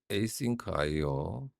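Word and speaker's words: asyncio: 걸 읽는 법 안싱크 아이오라고 있습니다. 맞네요. A싱크 아이오 A싱크 아이오라고 읽어야 되네요.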